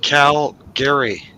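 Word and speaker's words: Calgary: brother thank you so very much big it's pronounced Cal Gary that's right like caramel not caramel I say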